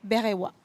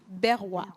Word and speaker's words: Berwa: Et vous avez un magnifique prénom, je ne sais pas si je vais bien le prononcer, c'est Berewa. Berwa.